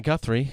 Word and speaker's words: Guthrie: Miss Savannah Guthrie. You may have heard of Yep. her. Rhymes with schmuthrie.